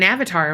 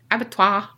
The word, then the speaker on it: abattoir: Well, I learned what an avatar was. That's definitely not the word. Abattoir. You said avatar.